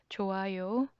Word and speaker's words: 좋아요: 좋아요, 좋아요. Again, here it is silent.